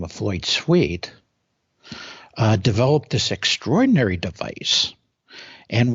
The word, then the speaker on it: Sweet: And so the inventor's name was Floyd Sweet. And all your listeners can look up Floyd Sweet on the internet. And his last name is spelled like what it sounds like, S-W-E-E-T.